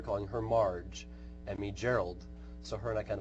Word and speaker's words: Gerald: her Marge and me Gerald so her and I kind of bonded that moment I'm like hard G hard G and I think her